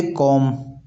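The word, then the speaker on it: comb: जैसे कॉम। कॉम का spelling इस प्रकार से होता है।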